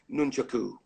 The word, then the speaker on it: nunchaku: they're called shuriken not throwing stars and it's pronounced nunchaku it reminds me there was a VHS back